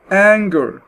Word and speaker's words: anger: لما شفنا كلمة زي anger اغلبية الكلمات اللي فيها NG موجودة في الميدل او في المنتصف هتتنطق نج، يعني ال N بغنة ومعاها جي. anger.